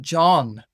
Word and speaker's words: John: But then I just kind of noticed, like, the name John has a H in it. And we don't pronounce that H, and we don't even notice it's there.